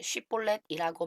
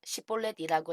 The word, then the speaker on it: 쉽볼렛: 그러면 쉽볼렛이라고 말해보라 하고 그들은 요구했다. 그러나 만일 그가 시볼렛이라고 잘못 발음하면 그를 잡아 요단 나루터에서 죽였다.